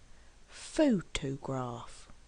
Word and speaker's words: photograph: what does this mean photograph has three syllables and we actually stress on the first syllable photograph photographer has four syllables